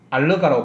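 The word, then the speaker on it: oligo: 올리고란 말은 알러가라고 발음하는데요. 알러가 이런 말인데 올리고당 할 때 당이 없다는 뜻이에요.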